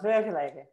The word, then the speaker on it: Vergelegen: He came from Vergelegen. Ah, okay. Yes. That's very well pronounced, Kim.